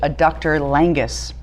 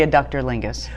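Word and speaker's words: adductor longus: this in the show I pronounced it a doctor langus and I'm here to tell you now that it was just Jane Lynch mispronouncing it it's actually a ductor Lingus but maybe it'll be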